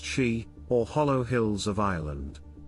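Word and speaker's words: síd: an underground kingdom accessed only through the Sidmounds, pronounced she, or hollow hills of Ireland.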